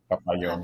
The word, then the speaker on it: Papayon: yeah, and the pronunciation is different Yeah, of in course it every is. language. So it's Pap- papayon, Papayon.